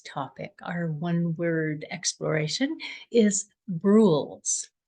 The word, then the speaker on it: Brules: our onew exploration is bruls I did pronounce that correctly I'm not slurring or anything it rules with a b and it comes from